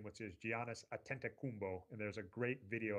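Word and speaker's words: Giannis Antetokounmpo: did learn to say his name which is Giannis atent kumbo and there's a great video of him saying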